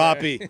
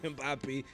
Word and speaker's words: Mbappé: Am I pronouncing his name wrong? Yeah, absolutely, sir. Mbappé. Mbappé. It's Mbappé. It's French.